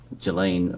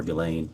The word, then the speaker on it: Ghislaine: Um as best as we know, it's been publicly reported that in a 2024 uh Ghislaine Maxwell, or Ghislaine, I think is how it's pronounced, arranged and wired a